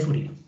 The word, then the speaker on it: Fourier: Porque esta es una serie de Fourier, no sería pronunciar la R, una serie de Fourier.